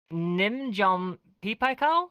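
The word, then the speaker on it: Nin Jiom Pei Pa Koa: I'm so sorry, but Nimjom Pipakao? Is that how you pronounce it?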